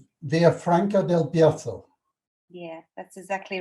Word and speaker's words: Villafranca del Bierzo: it's not far from, oh, I'm going to really screw up the pronunciation, Villafranca del Bierzo.